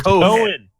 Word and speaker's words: Cohen: It's Cohen. Yeah, Cohen. The H is silent.